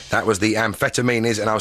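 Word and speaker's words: Amphetameanies: It's like amphetam... No, it's not actually like that, is it? Ampheta, like amphetamines, MEANIES.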